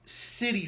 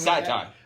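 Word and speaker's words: Citi: Now the Cubs head to what I'm told is pronounced City Field. I've been pronouncing it Sci-tie. I've been pronouncing it with an SH sound.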